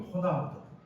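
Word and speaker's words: Ronaldo: 혹은 호나우드 R을 히읗으로 발음하는 이름을 들으면 스페인권 사람인가 보다 뭐 이런 추측하잖아요.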